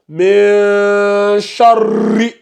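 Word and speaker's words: شَرِّ: En fait, c'est comme si tu disais char et ri. Maintenant, tu fais les deux en même temps. Donc, ça donne charri.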